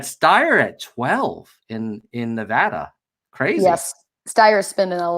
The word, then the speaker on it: Nevada: so sorry how what how do people who live in Nevada pronounce Nevada ah its Nevada it's so hard because if you pronounce it phonetically it looks like it should be Nevada okay like you're on